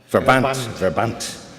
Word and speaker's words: Verband: Verband. With an R, typical German R.